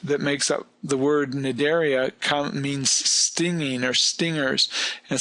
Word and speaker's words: Cnidaria: that phylum is phylum Cnidaria. Obviously, the C is silent, but the root that makes up the word Cnidaria means stinging or stingers.